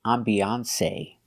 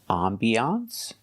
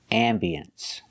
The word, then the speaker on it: ambiance: You cannot say ambiance. You can say ambiance or ambience.